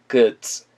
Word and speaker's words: goods: 그 다음 그 merchandise, goods. 굿즈가 아니에요. 그에 가까운 발음입니다. goods.